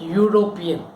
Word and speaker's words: European: Here H is silent. The same way the word European. How you say Europe? Here sounds like European.